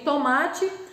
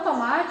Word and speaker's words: tomate: O ma, então, aqui é a minha sílaba de tom mais forte, é a penúltima. Então, tomate finaliza com E. Apesar de, na sonoridade, quando eu falo tomate, eu quero colocar com I no final exatamente por isso.